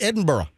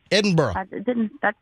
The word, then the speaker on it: Edinburgh: morning it was great I don't think you're pronouncing it quite right but I'll let it slide no no it's it's Michelle it's Edinburgh Edinburgh I don't know you're not doing something quite